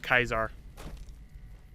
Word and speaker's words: Caesar: Brutus and they even go for the old Latin pronunciation of Caesar - they call him Kaiser nice so I will